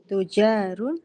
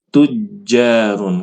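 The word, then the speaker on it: تُجَّارٌ: Nah sekarang Eh terus depannya tujarun bukan bukan tujarun bukan tujarun bacanya tetapi tujjarun karena jimnya ada tasdidnya ohun un kibaru kibaru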